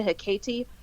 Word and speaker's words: Hecate: type enough that um I always pronounce it hey Kate but I believe on the show they pronounced a hit Katie Katie what is essentially